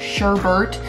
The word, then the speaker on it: sherbet: I know like people say sherbet, but there's no second R in it, and I can't bring myself to pronounce it sherbet.